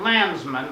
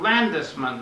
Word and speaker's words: Landisman: Not Landsman, but Landisman. It's an extra syllable in there with the D-E in the middle.